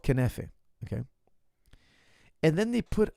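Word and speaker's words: Kunafa: It's called knefe, okay?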